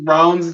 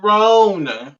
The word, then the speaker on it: Rowan: You just Oh mispronounced Rowan's name. I'm sorry. You just mispronounced it. You just said Rowan. yeah, isn't it Rowan? No, it's Roan.